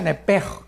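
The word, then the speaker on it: נפש: La palabra alma es nepesh, en el hebreo, apúntalo, nepesh. Se pronuncia nepej, porque la CH en hebreo es j, nepej, y la palabra espíritu es ruach, se escribe ruach.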